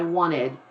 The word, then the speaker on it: wanted: here I want it I don't even pronounce that T that comes from once I wanted I wanted to do